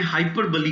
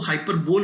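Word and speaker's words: hyperbole: कि इस कविता में हाइपरबली का इस्तेमाल हुआ है। अभी कुछ लोग इसको हाइपरबोल बोलते हैं, दैट इज रॉन्ग। इसका जो करेक्ट प्रोनाउंसिएशन है दैट इज हाइपरबली।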